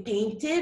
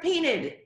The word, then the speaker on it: painted: So whenever the root verb ends in the letter D or the letter T, you have to pronounce the ed, the id.